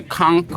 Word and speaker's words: conch: But the conch, the conchk or conch, depending on how you say it.